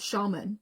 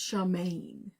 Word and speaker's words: Samhain: it out okay um Shaman that's how you pronounce it right Shaman cuz it's not Shaman it's Shaman okay so let's go